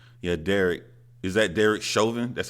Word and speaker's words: Chauvin: Is that Derek Chauvin? That's how you pronounce his name?